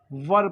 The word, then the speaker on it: were: हैं क्या पढ़ते हैं इसे वर पढ़ते हैं जैसे कि एच ई आर हर में पढ़ते हैं इसी तरह से डब्लू